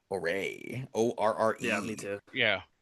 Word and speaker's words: Orre: I always pronounce it Orray. Orre.